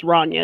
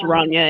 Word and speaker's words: Rania: Everybody, there's been several people, but it's Rania. It's pronounced Rania, and they called her Ronnie for short.